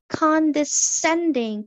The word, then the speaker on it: condescending: condescending, condescending입니다. 발음이 약간 헷갈릴 수도 있어요. 코디생 아니에요. con n 발음 두번 발음 된다는 거.